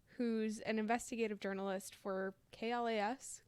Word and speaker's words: KLAS: an investigative journalist for klas class okay i think it's just kl you say yeah you pronounce every letter so and and that's